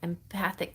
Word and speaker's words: empathic: wait empathic tarot empathic you have to enunciate the the second syllable empathic tarot empathetic empath empathic